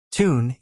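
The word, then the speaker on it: Toon: a magpie bird Newcastle United the tune Army tune is the Jordy pronunciation of town and army reflects the large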